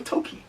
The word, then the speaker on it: Tolkien: Is that how you pronounce it? J.R.R. Tolkien. Yes. So Tolkien.